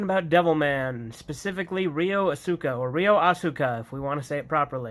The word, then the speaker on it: Asuka: the point that Rio Asuka I know it's pronounced Asuka I don't care from devil man is not